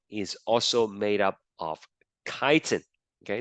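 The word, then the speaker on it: chitin: now the last kind of polysaccharide is called kiten that's how you pronounce it okay not Chan it's kiten kiten um the monomer is a special kind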